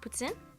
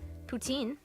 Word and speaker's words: poutine: on what Putin is Putin pronounced puts in French poutine wrong and Putin it's a French